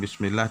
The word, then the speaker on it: bismillah: Bukan yang salah mengucapkan bismil, salah. Atau bismil, itu sudah masuk sim ini. Biasa saja bismillah.